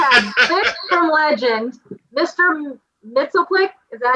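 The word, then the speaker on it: Mxyzptlk: Mitzelplick, is that how you say it?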